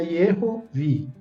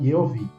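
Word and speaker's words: Yehovih: Quando coloca ali no livro Yehovi, como se o H fosse mudo, eu não sei se foi talvez uma forma da época, né, de transcrever lá na época, mas seria Yehovi. porque esse Re no meio, esse H do meio, ele teria esse som de Re também, tá bom? Um som leve de Re.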